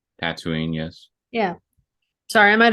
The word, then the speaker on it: Tatooine: Eve right now where she's at she's on tantooine right Tatooine yes yeah sorry I might have mispronounced it but I meant um we see